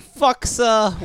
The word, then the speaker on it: FUXA: I say FUXA. Well, how am I pronouncing this? It's pronounced fuchsia, like the color.